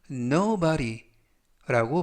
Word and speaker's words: nobody: 되겠고요 이때 유의하실 점은 끝부분에 있는 알파벳가 부드럽게 드 발음이 아니라 르 르 그래서 nobody라고 발음하시면 좋겠고요 품사는 대명사 뜻은 아무도 뭐뭐